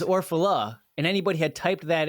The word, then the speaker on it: Orfalea: pronounced your name correctly that's not it but that is why I go by ORF because it is almost impossible to pronounce correctly in fact if you had pronounced my name correctly which is orphala and anybody had typed